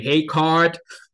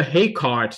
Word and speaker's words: Heegaard: should say again that it's actually the Danish name so it's probably hey card um but I would mispronounce it all the time anyway so a hay card diagram or maybe a